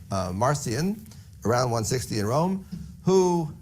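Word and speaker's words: Marcion: figure in early Christianity named marcian sometimes pronounced Martian but that doesn't sound quite right so we say marcian around 160 in Rome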